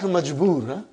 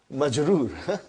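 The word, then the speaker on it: مجرور: Now if the noun ends with a kasra, be it a tanween or one, we will say the noun is majroor. Not majboor, majroor.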